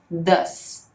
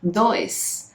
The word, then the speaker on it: does: A gente pronuncia o does como se fosse um D, um A com tio e um S. Does, certo? Porque eu sei que às vezes a gente não consegue ler muito bem o O e o E juntos, porque a gente não tem isso em português, né? A nossa pronúncia seria does, mas na verdade a pronúncia correta é does.